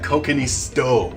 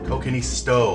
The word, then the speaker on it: kokkinisto: let me just double check i got the pronunciation right there yeah kokanee stove kokini stow otherwise known as greek beef stew with tomato